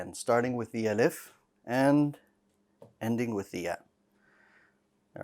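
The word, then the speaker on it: ألف: say along with me alif alif one more time alif good now the alif needs to be light all right it needs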